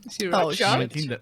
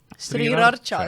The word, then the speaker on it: Sriracha: Sriracha siis või? Sriracha. Racha. The R is silent.